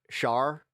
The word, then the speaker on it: Char: I'm a Gundam fan, so I always wanted to be called uh Char, but they would never pronounce it with the sh. It'd always be Char.